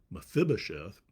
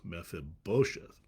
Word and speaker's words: Mephibosheth: And so I looked it up, and the accent is on the bo, so it's Mephibosheth.